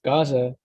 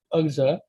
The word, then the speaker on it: Gaza: With it starts with a consonant, and the same with Gaza, Ugza, because instead they pronounce it as Gaza, like with a GH, and that's a hard sound to pronounce, but the basic concept is like a H added to it.